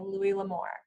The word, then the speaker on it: Louis L'Amour: We're going to talk about Tucker by Louis L'Amour. Did I get it right, Andrea? Yes.